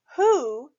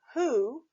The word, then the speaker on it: who: be pronounced ah but the o in this word is pronounced just like in the words to and do remember when you are reading the word who we pronounce the letters